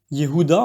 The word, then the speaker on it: Yehuda: Judas, Yehuda en fait, et t'acclameront qui se dit Yodu.